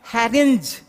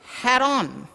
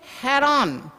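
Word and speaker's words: harangue: that this is how most of the student pronounce it harrange this is wrong pronunciation and a spelling is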